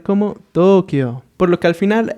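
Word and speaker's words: 東京: Tokio, haciendo la vocal larga en las dos O's que tenemos. Así que bueno, su adaptación al español ha cambiado un poco, quedando solamente como Tokio.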